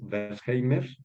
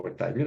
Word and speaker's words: Wertheimer: Esas personas eran Ruth Benedict, de la cual tenemos aquí la fotografía, y Max Wertheimer, o Wertheimer, algunos pronuncian así, al español así.